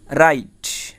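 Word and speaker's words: write: দেখো ডব্লু আর আই টি ই, রাইট অর্থ লেখা। দেখো বিষয়টা আমার এরকমের হয়েছে যে আর আই টি, রাইট। বুঝতে পারছো? তাহলে আমার এ জায়গায় কি ডব্লু উচ্চারণ হয় নাই।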